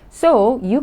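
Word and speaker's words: 소유: you read it so the first consonant is s and then you can see the vowel o so s and O so and then the second consonant doesn't sound so you got to pronounce the vowel U so so you so you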